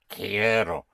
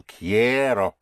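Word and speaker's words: quiero: I want is Ko. Ko. I want I care. Ko. Ko. Spelled Q U I E R O. The Q has a sound of a K. So kero ko it's I want again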